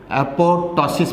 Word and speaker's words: apoptosis: इसमें second P is silent, तो एपोटोटिक या एपोटोसिस पढ़ा जाएगा बेटे।